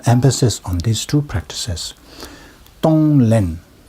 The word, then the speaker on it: Tonglen: Tonglen, there are two syllables. Tong, to give. Len, to take. Tonglen.